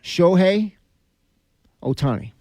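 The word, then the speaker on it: Shohei Ohtani: to deal with them well how do you pronounce his name again shohi Otani uhhuh again I'm glad you did that I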